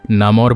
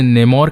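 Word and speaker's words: Namor: Comics में, movie में और साथ ही कार्टून्स में इसके अलग अलग प्रोनाउंसिएशंस हैं। कोई इसे नेमोर कहते हैं, कोई इसे नमोर कहते हैं, कोई इसे नामोर कहता है। तो आप लोग अपनी कन्वीनियंस के अकॉर्डिंग इस वर्ड को ले सकते हैं।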